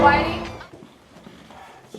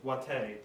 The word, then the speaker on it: Whitey: Is that Whitey? Jesus, Chardonnay, I do believe that I've told you that it's pronounced Wate.